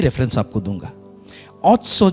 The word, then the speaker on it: Otsar: तो इस शब्द ऑस्टर क्या है, इसका प्रोनाउंसिएशन ऑट्सो बोलते हैं।